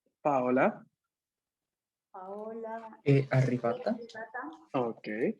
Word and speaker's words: Paola: Paola. Paola. Arrivata. Ok. È arrivata. Aquí, paréntesis, acá en italiano el nombre es Paola. Con el acento sobre la Paola.